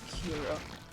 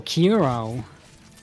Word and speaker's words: Kuro: There's no Y or any other letter there. It's just a U. Yeah, because no, it's just the English pronunciation. Yeah, I know. That's why I'm saying that like some English speakers will do that, and that one actually bothered me. Just sounds wrong.